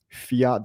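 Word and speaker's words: Phiat: that are new here that's spelled p-h-i-a-t go to p-h-i-a-t dot i o Fiat dot IO check this platform out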